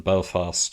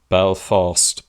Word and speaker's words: Belfast: years ago, but they made a big deal about Belfast being pronounced on the second syllable. They say it's Belfast and not Belfast, and incidentally, that is how Christopher Hitchens often pronounced it.